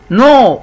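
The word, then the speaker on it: know: سبيك يتحدث والماضي سبوك نو يعرف ما بنطق حرف ال والماضي نو برضو عرفه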